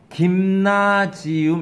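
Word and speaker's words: Gymnasium: 저건 독일말로 가면 스펠링이 똑같은 걸로 알고 있는데, 독일어로 가면 저걸 뭐라고 있냐면, 김나지움, 이렇게 읽어요.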